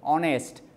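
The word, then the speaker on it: honest: অনেক কিছু আছে যেখানে সাইলেন্ট হয়ে যায় শব্দ অনেস্ট সেটাকে তুমি হনেস্ট বলতে পারো না আওয়ার তো এই যে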